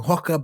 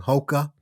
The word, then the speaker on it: Hoka: the uh my reviews I was saying hwah before I should be saying Hoka I say Nike because